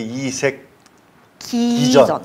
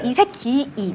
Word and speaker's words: 이색기이전: 이게 이색. 기전. 기이. 발음 빨리 하면 이색기전. 네, 이색기이전. 네, 네. 발음 정확히 합니다. 이색기가 아닙니다, 여러분. 이색기이전입니다.